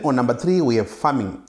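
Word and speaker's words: pharming: number three we have farming which is not the normal farming that we do but uh a type of farming that is found in cyber security which is spelled PHA not F A so in this case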